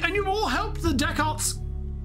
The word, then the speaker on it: Dechart: you've all helped the deck Arts it's how it's pronounced right deck art I thought it was